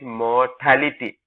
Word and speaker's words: mortality: Now remember, the word, the pronunciation of this word is mortality. Motility is the movement. Death is mortality.